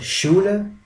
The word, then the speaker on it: Schule: Is literally the SCH, which is simply the sh of German. For example, in the English word shame, the sound sh is identical wherever you see this letter combination, SCH.